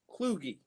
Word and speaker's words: Kluge: Loogie with a K in front of it.